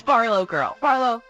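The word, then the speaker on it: BarlowGirl: Can you pronounce it for me? It's Barlow Girl.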